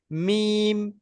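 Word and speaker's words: ميم: দুটো ঠোঁটের শুকনো ভাব এক জায়গায় হয়ে যাচ্ছে, মিম, মিম। মি আর বাটা যখন উচ্চারণ মিম হচ্ছে তখন কিন্তু ঠোঁটটা বন্ধ হচ্ছে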